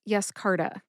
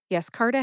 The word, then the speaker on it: Yescarta: It is Yescarta. Yescarta has three syllables. That's yes, as in an affirmative reply, like yes, I like beer and pretzels.